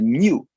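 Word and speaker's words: ν: And this is not V, this is a nu. Very interesting. This is a Greek letter, I believe. It has a pronunciation like new, new.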